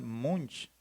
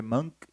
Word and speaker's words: Munch: puede leer en español, Munch. Entonces, cualquiera de los dos está bien. Si quieres pronunciarlo en noruego, pues puedes decirle Monk. Y si quieres pronunciarlo en español, pues puedes decirle Munch, Edward Munch.